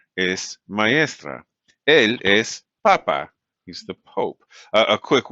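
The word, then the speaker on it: papá: is papa papa and notice this one does have an accent right because it's pronounced differently remember we said if it ends in a vowel we expect the second and last syllable to be stress well here the last syllable stress so that's what that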